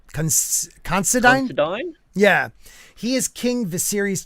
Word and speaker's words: Considine: Patty, how do you pronounce his last name? Considine? Considine?